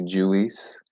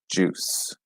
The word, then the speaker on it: juice: biscuit yeah I know juice is a difficult one to pronounce because people often see the you and the eye and they say Jewess which it's know it's like juice juice to peanuts it's a